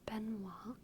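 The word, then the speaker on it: Benoît: all right dll Joel I want to pronounce this in the French way which is Ben Beno it's a very common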